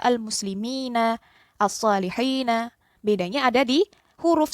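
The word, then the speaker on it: المسلمين: Jadi yang sebelumnya al-muslimuna atau as-salihuna dibacanya al-muslimina, as-salihina. Bedanya ada di huruf sebelumnya. Huruf sebelumnya dibaca kasroh. Gitu ya. Sehingga tidak ada diftong di situ.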